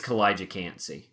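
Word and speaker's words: Kalijah Kancey: I think so because I remember that's how they announced it on the draft, and I assume they Okay, told Roger Goodell how to say it right.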